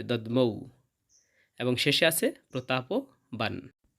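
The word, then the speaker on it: দধ্মৌ: এরপর হবে দাদ মৌ। এখানে ধ এবং ম সংযুক্ত বর্ণ রয়েছে। তাই ধ টা অর্ধেক হবে। ম টা ঔকার যাবে। দমৌ।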